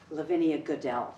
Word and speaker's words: Lavinia Goodell: I think it is such an important thing for us all to remember Lavinia Goodell. Is that the way you pronounce the name? Yes.